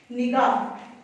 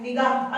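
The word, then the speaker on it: نگاہ: अब देखिए निगाह, नगाह नहीं होता, नुगाह नहीं होता, पेश की आवाज नुगाह होंठों को गोल करते हुए और जबर की आवाज अलिफ की तरफ ऊपर जाती है, नगाह नहीं पढ़ा जाएगा, तो इसकी क्या आएगी जेर आएगा, निगाह, नीचे आवाज आएगी नी गा, तो नीचे की तरफ जा रही है नी, जेर की आवाज नीचे की तरफ को जाती है तो निगाह गा, और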